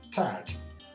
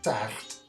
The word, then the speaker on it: taart: Above the Rhine, the R is hardly pronounced, like in English, and sometimes even sounds like a J. An example is the Dutch word for cake, which is pronounced taart above the river and taart below it.